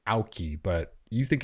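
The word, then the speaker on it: Aukey: i i pronounce it aki but anyway it's gold key right so however you would pronounce like the a u the ah and then key i don't know it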